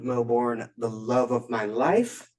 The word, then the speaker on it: Melbourne: Melbourne, Australia. Oh, yeah, that's how you say it. Melbourne.